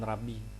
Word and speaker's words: Rav: Karena dalam bahasa dialek aramaik e Babilonia itu sering apokopasi gitu ya, menghilangkan bagian akhir sehingga dibacanya Rav seperti itu. Beda dengan dialek Palestina, mereka biasanya mengucapkan rabbi ya.